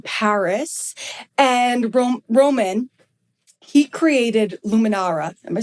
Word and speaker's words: Luminara: And Romain, he created Luminara.